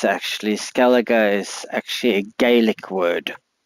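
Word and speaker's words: Skellige: in skalla and that is the way you pronounce it it's actually Scala is actually a GIC word so it's pronounced Scala not scalid as you can see I've only thing I've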